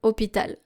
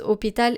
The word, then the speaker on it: hôpital: For example, you don't say le hôpital because hôpital is starting with a silent H.